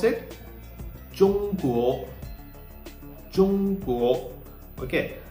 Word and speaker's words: 中国: 中国, 中国. Okay, so we learned that ZH is pronounced just like you pronounce the DGE in judge.